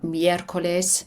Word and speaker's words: miércoles: Miércoles, put the stress obviously on the word, on the letter with the accent on.